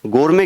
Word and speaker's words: gourmet: गोरमे क्या होता है? GOURMET। क्या वर्ड लिखा हुआ है? GOURMET। इसमें टी साइलेंट है, जिसके ऊपर मैंने क्रॉस किया वो एरर नहीं है, वो साइलेंट है। इसको गोरमे बोलते हैं।